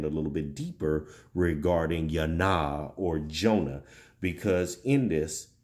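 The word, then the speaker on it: יוֹנָה: the hebraic culture because there was no such thing as the j or the just sound everything had a y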